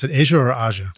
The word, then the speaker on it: Aja: did was Asia with or how do you pronounce it Asia or AIA Asia Asia okay great with Steely Dan and that